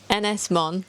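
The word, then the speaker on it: Ynys Môn: Ynys-Môn.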